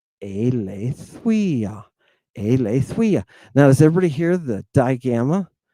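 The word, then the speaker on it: Ἀλήθεια: Aletheia. Aletheia. Now, does everybody hear the digamma? The W sound that comes before this upsilon? It's not aletheia, right?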